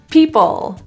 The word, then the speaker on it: people: is the issue take people the L is often deleted it's very common so in this case feel the tongue tip touch all the way to the roof people into the vowel